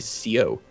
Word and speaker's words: seau: Like, the French word for a bucket is seau, S-E-A-U, just pronounced so. But like a proper Northern Ontario, like old-timey francophone would actually say CO.